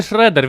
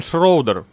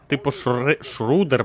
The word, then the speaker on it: Schroeder: Так він не Шредер, він Шроудер. Типа Шрудер, блядь. Або Шродер. Ну не Шредер, нахуй.